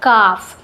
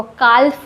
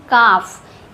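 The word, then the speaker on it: calf: इसलिए यहां पर एल का प्रोनाउंसिएशन नहीं होगा। एल साइलेंट होगा। काफ पढ़ते हैं इसको। कालफ नहीं काफ।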